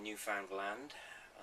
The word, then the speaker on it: Newfoundland: Hitchhiked across Newfoundland, as I'm told you should pronounce it.